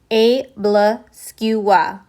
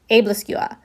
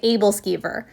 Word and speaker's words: Æbleskiver: Also, the pronunciation in Danish is Æbleskiver, Æbleskiver. And in English, I've heard people say Æbleskiver. So I'm going to attempt to say it the Danish way in this video.